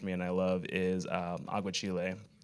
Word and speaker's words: aguachile: So one food that actually does really nourish me and I love is aguachile.